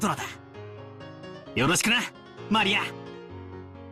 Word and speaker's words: Maria: name is written that of course that is pronounced Maria a third character looks like a cross which